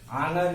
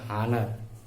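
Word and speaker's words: honour: ऐसे ही ये second word है, इसमें एच साइलेंट होगा, आनर इसको कहा जाता है। ओके, लेकिन कुछ लोग पढ़ते हैं हानर, एच का भी प्रोनाउंसिएशन करते हैं, एच साइलेंट होता है इसमें।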